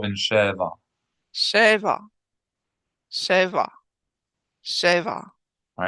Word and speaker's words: שבע: שבע. שבע. שבע. All right, now say both of them 3 times. שבע, שבתות. Sheva. Sheva. When you put them together, make sure you're accenting the first syllable.